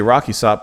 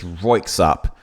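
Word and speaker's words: Röyksopp: I mentioned, or like, I always say their name wrong, apparently. Because I was going to say Rocky Sop, but I think I say their name. It's Roiksop. I've been saying that wrong for a long time.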